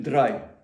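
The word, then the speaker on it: drei: Ну недно сказати. Кажіть драй. Німці то розуміють.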